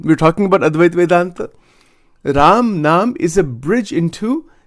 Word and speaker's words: Ram: See how it is pronounced? Ram, Ram.